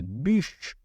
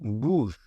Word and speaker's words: bûche: la bûche de Noël attention à la prononciation si vous en demandez on dit bûche et non bouge bûche bouge Bou ça veut dire mouth en anglais donc ça pourrait porter à confusion donc on dit de la bûche de